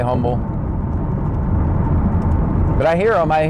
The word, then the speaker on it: Humble: Every time I hear them on the on the scanner, it's like in Pasadena or in Humble or Umble, however you pronounce it. I say Humble, but I hear them.